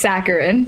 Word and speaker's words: saccharine: of uh the ep saccharin am i pronouncing that correctly it's saturated actually no he's he's messing with you it's saccharine saccharin yes uh yeah but we're